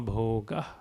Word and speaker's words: bhoga: BH, so bha. BHO, bho. Kama bhoga. Kama bhoga.